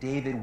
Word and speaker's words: D4VD: It's pronounced David, but it's spelled with a 4.